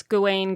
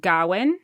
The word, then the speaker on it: Gawain: the ghoulish game so both you and I pronounce Gawain Gawain but in the film they pronounce it Garwin yes and I think it could go either way so we're going with what's natural to us yes yeah yeah okay